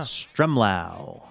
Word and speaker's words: Stremlau: We've also got to thank Chris Stremlau, who's in Kirkland, Washington. I think this might be the first time that I've said Chris's last name correctly. Yeah. Stremlau rhymes with them, rhymes with ow. Yeah. Stremlau.